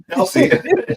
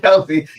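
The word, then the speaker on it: Kelce: Um, I can't pronounce that last name. Might go Kelsey." Is that Kelsey? Oh, sorry. Kelsey. Jason. Kelsey.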